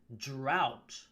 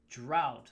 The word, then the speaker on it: drought: read through these actually the pronunciation of the first one is drought ah drought it's like out why is there a g and an H sorry English is like that I I would hate